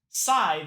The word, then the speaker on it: Scythe: Scythe is pronounced like sigh and the soft th is smooth.